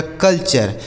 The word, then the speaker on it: culture: CULTURE, तो CUL से हो गया दोस्तों कल, और TURE से चर, लिखा गया कल्चर।